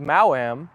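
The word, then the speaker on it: Maoam: Asteroid's older sister is called Mauam, but her name is spelled M A O A M.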